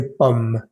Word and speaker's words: pomme: La palabra manzana también se dice pomme, pomme. Justo después de pronunciar la M suena o sale un pequeño aire que da la impresión de que estoy pronunciando la E, pero no es pomme, sino pomme.